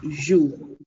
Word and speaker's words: je: This 2-letter word is jo. This 2-letter word is jo, not J. It is pronounced as jo.